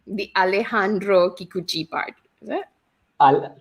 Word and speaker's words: Alejandro: first name is alejandro all right so it's alejandro i have to have it okay got it i mean pronounce alejandro okay got it all right and